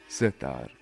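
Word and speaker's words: setar: the Indian classical सितार the name of Kashmiri सितार is pronounced S सेार से means three in परर्शियन एंड तार means strings there is a strong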